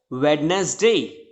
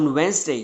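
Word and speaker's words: Wednesday: नहीं ही स्वस्थ्य इस ओर फैब्रिक नेट है वेडनेसडे नहीं इसमें जो होता है बेसिकली साइलेंट हो जाता है तो इसको प्रभाव से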